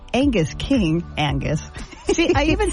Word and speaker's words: Angus: of fund raising Senator Angus Angus King Angus see I even said it wrong there again know the steak's not called Angus yeah I say Angus it's not Angus it's Angus okay still sounds the